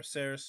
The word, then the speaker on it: Circe: of the Nymph Circe, which Circe, or Ceres, however you want to pronounce it, it's technically Circe, but whichever.